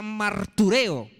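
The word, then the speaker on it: μαρτυρέω: confesar ahí viene una palabra griega que se pronuncia martureo, de un verbo griego que es martureo, de donde viene la palabra mártir.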